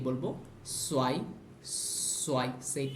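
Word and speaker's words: zwei: আমরা জানি কোনো সেট হচ্ছে কি, কোনো ইংলিশ কোনো শব্দের শেষে যদি টিএস যেরকম উচ্চারণ হয় ওই রকমভাবে উচ্চারণ হয়, র্যাটস ব্যাটসের শেষে টিএস যেরকমভাবে উচ্চারণ হয় ওরকম উচ্চারণ হবে, সোয়াই, সোয়াই।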